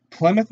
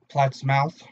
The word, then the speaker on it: Plattsmouth: Scoops and Mischief out of Plymouth, Nebraska. We'd like to thank them for everything they do. Please pronounce it Plattsmouth.